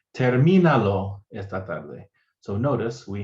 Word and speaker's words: termínalo: Finish it would be termínalo. Okay, and notice also we get a written accent on the I because it retains that stress on the I, because we want to say termina.